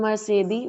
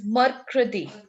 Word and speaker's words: Mercredi: Ma'am Mercedes Wednesday. No, it's Mercredi.